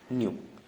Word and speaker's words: nu: थोड़ा, ठीक है ना, बुक में बना रहता है न्यू, NU न्यू या NEW न्यू, ठीक है। मैं प्रोनाउंसिएशन बता रहा हूँ, इसको क्या बोलते हैं, न्यू, है ना, नए वाला न्यू, ठीक है। लेकिन जो इसको लिखा जाता है वो लिखा जाता है NU, ठीक है।